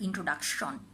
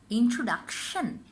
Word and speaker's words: introduction: Often we make mistake and say position, pollution, and introduction. Follow the movement of my lips. It's shen, not shon. So it's position, pollution, introduction.